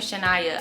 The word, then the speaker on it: Chyna: watching this year is chyna or chennai i think you pronounce her name shania i played a little